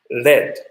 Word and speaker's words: lead: PV element this is you have to pronounce this as LED leg but top one